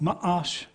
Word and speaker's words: Mash: and then Mash, not as in Mash like the TV show, but Mahash would be, it would have M-A-A apostrophe. You have that little hitch and you get along, Ma'ash. That's the way you pronounce that.